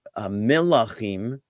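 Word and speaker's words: מלח: Okay, now it most closely relates to another very familiar simple word that some people may know, which is melach, which is spelled mem lamed chet, just like malach.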